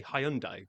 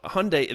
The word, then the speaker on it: Hyundai: but I would say Hundai, but you say h, especially when you hear on some of the commercials on TV, they just go Hundi. Well, Hyundai, they actually say rhymes with Sunday.